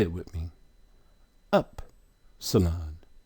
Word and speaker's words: Upsilon: Upsilon. How is it pronounced? But in the phonetic pronunciation, when you go to look it up, they're going to tell you it's E, as in B.